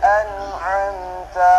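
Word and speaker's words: أنعمت: Yang benar siratal ladzina an'amta 'alaihim, an'amta 'alaihim. Ta ini tidak panjang juga. Kadang ada yang baca panjang ta ini. Tidak ya.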